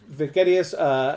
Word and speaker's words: Vegetius: And Vegetius has, which I think actually is the better pronunciation, has divides his book